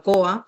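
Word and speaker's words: koha: este software que usamos que se llama COA. Se escribe KO, HA, significa regalo en maorí.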